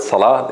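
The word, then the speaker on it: صلاة: the example of Salah the word Salah in they make the L strong so they would say because there is a sad before it and sad is strong so they will make the lamb strong as well um and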